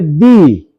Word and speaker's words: the: जो शब्द की शुरुआत वोवेल से हो। यानी कि उच्चारण उसका किससे निकले? वोवेल से। तो उसके पहले का जो टी एच ई लगा हुआ रहेगा तो उसको हम लोग बोलेंगे दी। लेकिन जिस मीनिंग की शुरुआत कंसोनेंट से हो, उच्चारण कंसोनेंट से हो तो उसके पहले जब टी एच ई लगेगा तो उसको क्या बोलेंगे? द।